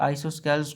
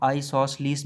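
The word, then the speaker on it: isosceles: ये आइसोस्केल्स को कुछ लोग आइसोसलीस भी पढ़ लेते हैं, तो ये प्रोनाउंसिएशन है, जिस तरह भी आप इसको पढ़ लें, आइसोस्केल्स कह लें या आइसोसलीस कह लें, एक ही नाम है।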